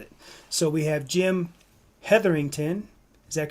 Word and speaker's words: Hetherington: So we have Jim Hetherington. Is that correct? Did I pronounce it right, Jim? Uh-oh, Jim frozen? Yeah, it's definitely correct. Jim Hetherington.